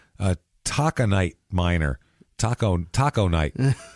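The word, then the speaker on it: taconite: can become a a Taca Knight minor Taco Taco Knight it's spelled t a c o n i t e Taco Knight he's mining Taco KN that sounds delicious I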